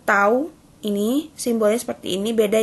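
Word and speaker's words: τ: Interval waktu pemberian itu tau, bacanya tau.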